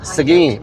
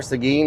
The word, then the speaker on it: Seguin: Seguin. Yep, that's it. Because he couldn't pronounce Seguin right.